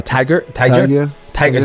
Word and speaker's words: Tagir: his name it's t a g i r tiger tiger tiger is how you say it tiger